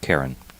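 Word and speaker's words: Ciarán: It's pronounced Karen.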